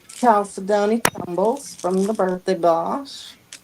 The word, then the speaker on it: chalcedony: She said it right. She always tries to say it's Cal Sydney. Because it is. It is Cal Sydney. You just said Cal Stoney.